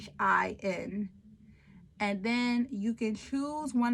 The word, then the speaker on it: lecithin: Sorry, I don't know how to pronounce that. It's lecithin.